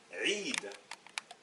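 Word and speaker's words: عيد: J'ajoute le ya qui va se prononcer i, et ensuite un del, et ça nous donne Eid, une fête, Eid.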